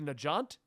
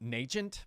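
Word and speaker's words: Nagant: always saying it wrong lady nijant I I've been saying an agent but I don't think that's it because yeah it's n-a-g-a-n-t yeah they say her name in the show and I I heard it I was like oh I've been saying it wrong the whole time but they heard a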